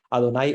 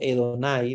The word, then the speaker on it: Adonai: Entonces ellos pronuncian Adonai o Edonai de alguna manera. Es como una AE, es un poquito extraño, porque acuérdense que es como cuando uno pronuncia también en inglés, que no es exactamente la vocal como nosotros pensamos, ¿verdad? Sino que es una A entre A y E. Entonces, por eso algunos pronuncian Adonai y otros pronuncian Edonai.